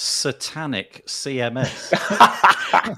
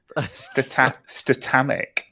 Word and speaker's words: Statamic: I'll do anything yeah by the way you said that word twice and both times I heard the words satanic CMS okay probably just said it wrong wow statamic yeah it was just my my parsing of the word it was too close to the word satanic that's we look for